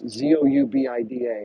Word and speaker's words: Zoubida: I don't know if you know who Zubida is, but if you don't follow Zubida, I think it's pronounced Zubida. It's Zubida Al Arabiya. It's Zoubida. If you're not following Zubida, please do.